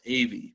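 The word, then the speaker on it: Ewy: is kind of tricky it's actually pronounced av but it's spelled e w y but the pronunciation is like the two letters an a and a v a v it's really weird well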